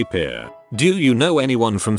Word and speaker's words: Pierre: capital of south dakota pierre wrong but she kept saying pierre two syllables like the french name and he said it was pier one syllable like what you fish off of